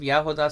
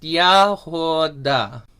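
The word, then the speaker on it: ягода: Yeah, and I saw in the chat someone asked for the pronunciation of yahoda slowly. So it's just yahoda is how you would say it.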